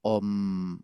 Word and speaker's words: om: u forman un diptongo la a y la u forman un diptongo que son parecidos los estados y ese diptongo suena como aproximadamente como la letra o y la M es el estado de sueños sin sueños por lo tanto está separado y en realidad suena como una ng Entonces el om se pronunciaría así no om om no